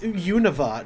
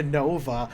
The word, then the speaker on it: Unova: God who is that Dan is like it's pronounced Unova not yeah Nova how dare you bring both pronunciations even in